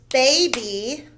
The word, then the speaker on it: baby: The first word is baby. It has two syllables, so the Y says E.